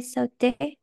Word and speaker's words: sauté: J'ai sauté dans la piscine. Bravo, exactement. Très bien. Ariana, j'ai sauté. No olviden que estos dos se pronuncian igual. Sauté, sauté.